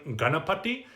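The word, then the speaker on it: गणपति: mentioned the first video the n in ganapati uh is is considered to be a retroflex meaning you roll your tongue back you're hitting the palate behind the mouth not right behind the teeth but almost like you're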